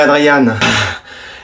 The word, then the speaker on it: Adrien: Adrien, là je prononce bien? Tu préfères que je dise Adrien ou Adriane? Comme vous voulez. Adrien, ça va? Je préférerais Adriane.